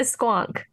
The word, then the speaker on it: squonk: This is a squonk. Is that how it's pronounced? Yeah, a squonk.